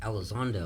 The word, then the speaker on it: Elizondo: Elizondo.